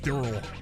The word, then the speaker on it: Daryl: with an English accent, I'm sure I would just pronounce it like Meril and Daryl, but like you you never hear it be pronounced like that in the show, right? There is no E there. It's just Merl and Durl. Also, Coral.